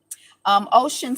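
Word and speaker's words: Ossian: interesting force money to ocean sleep his name is spelled OSS aian but in Detroit the black people say ocean and I never heard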